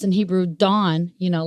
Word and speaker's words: Dan: is pronounced in Hebrew Dawn you know like like you know the early morning dawn you know it's pronounced more like Dawn but it means judge judge and then you